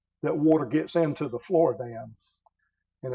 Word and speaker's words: Floridan: The most important one is called the Floridan aquifer. Some people mispronounce it as the Floridian aquifer.